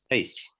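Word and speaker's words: εἰς: Ace. Ace, yeah, ace.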